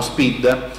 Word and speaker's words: SPID: Siccome anche questa non ha avuto grande diffusione, adesso si fa questo SPID, che non è scritto all'inglese con la doppia E, ma è scritto proprio come lo pronunciamo, SPID, Sistema Pubblico di Identificazione, e sarà un PIN universale per tutte le amministrazioni.